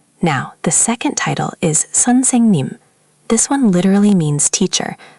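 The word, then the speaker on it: 선생님: Seonsaengnim. Good. The saeng part should flow more. It's almost like saying song, but with an eh sound. Seon saeng nim. The middle syllable gets the most weight.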